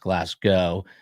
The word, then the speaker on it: Glasgow: Glasgow is pronounced Glasgow.